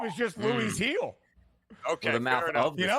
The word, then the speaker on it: Gil: then you called him Gil. It's Luis Gil is how you say his last name.